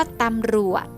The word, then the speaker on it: ตำรวจ: นะ คะ ท่าม แรก คำ ว่า ตำรวจ นะ จอ จาน เป็น ตัว สะกด แต่ ออก เสียง เป็น พยัญชนะ ตัว ดอเดก ค่ะ คำ ว่า บาง บาด